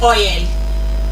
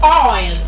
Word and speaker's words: oil: Some people will say "Oyer." And that's not the correct pronunciation of that particular word. There's nothing like "oyer." And there's nothing like "hoyer." It is oil.